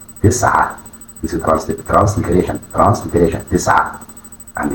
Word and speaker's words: تسعة: It is pronounced تسعة تسعة تسعة.